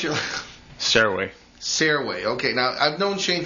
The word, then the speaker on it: Sirois: Around Woonsocket here, you would say Sirois, the good old French name.